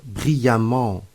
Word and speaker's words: brillamment: d'obtenir un adverbe de manière par exemple brillant brillamment fait attention à la prononciation de cet adverbe brillamment pour les adjectifs en ent nous ajoutons e